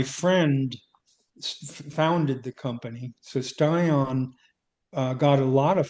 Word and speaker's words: Stion: I'm pretty sure you did, but and please correct me if I'm pronouncing it wrong, but you worked at a company called Stion. Oh, yeah. Yeah. Stion.